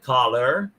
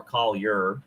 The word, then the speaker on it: Collier: a um i get caller uh you know but uh i i pronounce my name uh c-o-l and then forget about the iar just say y-e-r collier you know and uh